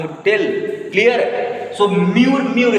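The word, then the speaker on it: mûr: We pronounce U. We pronounce letter U, na U. So we pronounce like that. Mu. Like see, very simple. Mo, ma, mi, mo. Then here we have mu, tu, ti, si, pi, po. Logic. So here mu. Here same mure.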